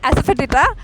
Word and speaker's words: asafoetida: एसिटोफिडिया। Could you spell that? ASEOTIFIDA। First of all, I would like to say she's the only person who's named it correctly. Asafoetida.